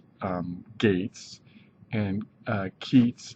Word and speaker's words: Keats: um Gates and uh Keats is like cheats that's what you can